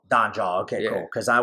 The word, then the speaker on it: Dhanjal: Dhanjal. Dhanjal.